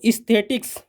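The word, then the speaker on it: aesthetics: तो इसलिए ए ई की का उच्चारण ई, बड़ी ई, ए आ की ध्वनि में। देखिए, तो इस्थेटिक्स सौंदर्य विज्ञान होता है, और ईऑन सृष्टि युग होता है।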